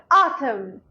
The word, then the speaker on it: autumn: M-N in this word, N is silent, like autumn.